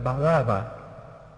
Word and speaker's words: Barrabás: Así que había dos hijos que uno llevaba el nombre, Barrabás, otro llevaba el título, Barrabás. Jesús era Bar-Abba, era también Barrabás. Se podía pronunciar distinto, pronunciar Baraba, pero era lo mismo.